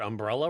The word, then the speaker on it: umbrella: i'm like umbrella umbrella it's the emphasis on the wrong syllable yes yes evidently up